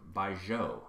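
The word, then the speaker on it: 白酒: So make sure to check out the show notes for this delicious recipe, and do your best to find some Baijiu. Did I pronounce that correctly?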